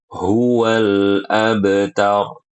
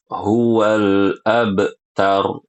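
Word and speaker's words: هو الأبتر: Perhatikan ibu-ibu, jangan dibaca qalqalah lamnya. Hual huwal abtar. Salah yang benar. Huwal abtar. Begitu. Dan perhatikan qalqalah pada huruf ba. Ini namanya qalqalah sughro. Ibu-ibu. Jangan diputus. Hual abtar. Salah. Yang benar hual abtar. Abtar seperti itu ya.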